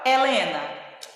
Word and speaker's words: Helena: Por exemplo, a palavra Helena se escreve com H, mas nós escutamos o sonzinho do E.